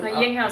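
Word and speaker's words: Yinghou: Yinghao says Greetings, Carla. Yin will be fine. The HOU is pronounced how, so it's Ying Hao. Ying Hao. So like how.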